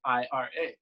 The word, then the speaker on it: Ira: My name is Ira, spelled Ira. Nice. And so in Brazilian Portuguese, it's pronounced Ira, which actually translates to wrath.